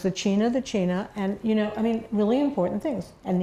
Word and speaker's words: China: And but he did teach us important things, which was that you pronounce Tanana, Tanana, and you pronounce the China, and really important things.